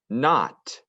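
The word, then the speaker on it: knot: k before the end when you have a k right before the end we don't hear the k we only hear the n not night there's two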